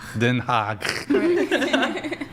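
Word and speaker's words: Den Haag: Denha. Denha.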